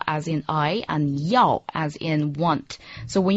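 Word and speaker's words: 要: The word for want is yao.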